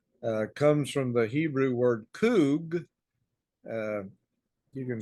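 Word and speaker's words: חוג: That's in the English language, but it's pronounced Kug.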